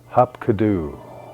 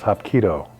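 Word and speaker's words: hapkido: I'm thinking to myself hop kadoo what could that possibly be hop kadoo later I found out the way you pronounce it is hopo but on my lunch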